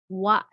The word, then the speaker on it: は: into wa hiragana ha written in hiragana ha but pronounce as wa okay so we have